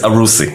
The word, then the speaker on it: Aroussi: last name it's uh my last name is arusi it's a bit hard yeah arushi I think